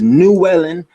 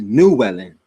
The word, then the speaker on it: Llewellyn: It's just you just have to know you don't pronounce the L's as L sounds. You pronounce them as N sounds. This is Llewellyn, not changing the spelling. It's still the same spelling, but this is Llewellyn.